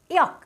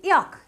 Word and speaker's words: yolk: YOLK, এখানে এলটা তোমার silent থাকছে, সাইলেন্ট লেটার নিয়েও আমার ভিডিও আছে। ইয়ক, এটাকে আমরা বলি ইয়ক।